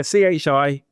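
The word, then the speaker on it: χ: How do you pronounce that? Is that chi? Yeah, CHI, Greek letter chi, or XDL.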